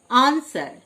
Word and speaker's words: answer: আনসার, ANSWER আনসার মানে উত্তর, W silent.